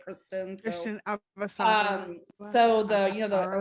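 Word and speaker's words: Chrisjen: It's spelled like Christian, but they say it Kristen.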